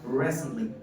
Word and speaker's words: recently: educative clear আসেন রিসেন্টলি আমরা এটাকে সাধারণত ভুলভাবে বলি রিসেন্টলি বলি আবার টিটাকে উচ্চারণ করি বাট in native English the word is said like recently is there one sir